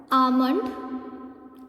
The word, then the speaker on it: almond: Almond, L is not pronounced here.